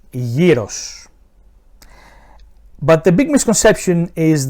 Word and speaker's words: gyros: To all of you that call this delicious-looking piece of food "Gyro" and that's for you as well Gordon Ramsay, the proper pronunciation is "Gyros". "Gyros".